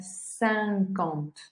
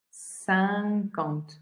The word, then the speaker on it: cinquante: Este 50 va a sonar sancont, sancont. No sancont, sino sancont.